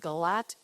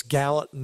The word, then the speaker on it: Gallatin: No, I think I said it wrong last time. I said it Galat. It's Gallatin Advisory.